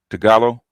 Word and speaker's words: Tagalog: Even the Philippines, I learn uh what Tagalog Tagalo. What you call Tagalog? It's pronounced Tagalo.